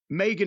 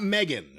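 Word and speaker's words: Megha: It's not Megan. Mega.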